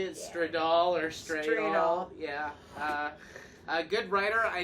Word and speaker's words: Stradal: Stradal.